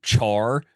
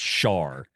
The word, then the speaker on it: Char: after yours came out, they kept calling him Char. That's not his name. It's Char. It's not how it's pronounced at all.